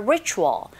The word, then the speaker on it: ritual: Ritual, 발음하실 때 R 사운드 처음 소리 내실 때 잘 안 되시면 힌트는요, 우 하면서 re 하시면 돼요.